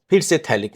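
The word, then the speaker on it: phthalic: यह है थैलिक acid. P silent है इसका।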